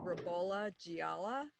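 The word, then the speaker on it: Ribolla Gialla: pronounce the variety well we pronounce the variety rbola giala which is um our bastardization of the Italian um Italian variety um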